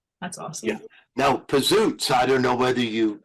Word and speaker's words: Pizootz: We trademarked the name, and we changed the pronunciation to Pizootz. We Americanized it.